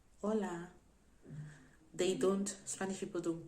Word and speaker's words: hola: you would hear it anywhere you go to hola hola hola they don't spanish people don't pronounce the age so they didn't say hola